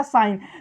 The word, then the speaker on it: sign: जैसे यहां लिखा है SIGN, क्या लिखा है, SIGN, जी के जस्ट बाद आ गया है अंत, यहां पे जी क्या रहेगा, साइलेंट रहेगा, इसका कोई उच्चारण होगा ही नहीं। तो हम पढ़ते हैं साइन।